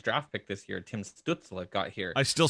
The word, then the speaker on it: Stützle: It's like everyone's like Stutzel. That's how that's like a strudel. Yeah, that's exactly. It's like, but no, it's Stützle because it's German and it's got I forget what the term is. 2 dots over umlaut. The umlaut. It's like Stützle. Yeah, it's Stützle.